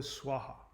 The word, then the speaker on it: Swaha: They pronounce it wrong because they have a strong accent. Om Tare Tu Tare Ture Soha. It's not Soha, it's Swaha.